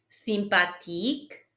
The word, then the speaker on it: sympathique: Sympathique, sympathique. Remember, there's no TH sound in French, so we just pronounce the T.